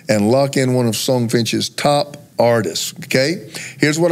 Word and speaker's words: Songfinch: this one more time songfinch how spell it s o n g f i n h yes like it sounds songfinch decom so here